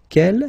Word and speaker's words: quel: But then we pronounce them the same way.